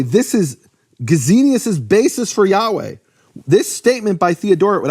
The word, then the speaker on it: Yahweh: 700 years later, that the Samaritans pronounce God's name as Yahweh.